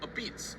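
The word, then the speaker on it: apizza: A beats like this. You say, I just learned it, but you say it like this. A beats.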